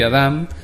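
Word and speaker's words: אָדָם: la primera que me interesa es adam se pronuncia así y adam que significa da en común gente humano persona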